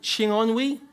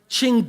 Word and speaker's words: Chingonyi: Is it Chingonwi? No. How is it pronounced, sir? Chingonyi. Chingonyi, hard G. No soft Gs, they're in posh places. That was improvised, by the way. That was a hard G, a hard G.